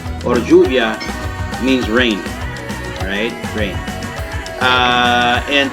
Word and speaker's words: lluvia: By the way, lluvia, shuvia, or lluvia means rain. Alright, rain. And thanks for that, Sam. So in Buenos Aires specifically, the double L commonly is pronounced as SH, but only in Buenos Aires.